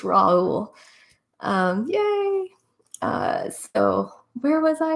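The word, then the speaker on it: Raoult: That's what I thought it was, but then I was like, I don't know how to pronounce that the right way. It's Raul.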